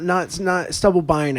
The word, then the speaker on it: Stubblebine: Not Stubblebine, I think is the way you're supposed to pronounce it.